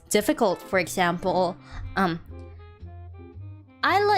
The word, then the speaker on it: Isla: difficult for example um isla is a correct pronunciation right but people can like call me or ah i i let go a little something like that they can pronounce my